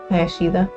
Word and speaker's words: Hayashida: How do you say your name again? Hayashida. Hayashida.